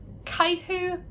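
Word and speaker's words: caitheamh: In Ulster, they get an ooh sound. Let's look at AMH. First up, caihu amshra.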